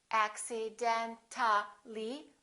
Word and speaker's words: accidentally: When we add accidentally, we don't pronounce the A, we say accidentally.